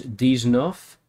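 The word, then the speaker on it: dix-neuf: Which is supposed to be a pun on Deeznuts, but also the way you pronounce, the number 19 in French, which is Deeznoof.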